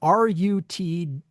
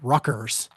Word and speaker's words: Rutgers: Well, here's the thing: is it so it is spelled Rutgers, Rutgers. But if you talk to anybody from New Jersey and ask them to pronounce it, they pronounce it Ruckers.